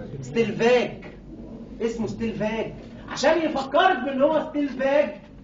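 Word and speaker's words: Stellwag: ستيل واج عشان يفكرك بنطق اسمه الصح، اسمه ما بينطقش ستيل واج، ستيل فاج.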